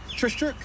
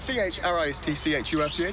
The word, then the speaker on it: Christchurch: Trishchurch. Yeah, Trishchurch. Sorry, where? Trishchurch? How do you spell it? C-H-R-I-S-T-C-H-U-R-C-H. Trishchurch. Trishchurch. Oh, you mean Christchurch?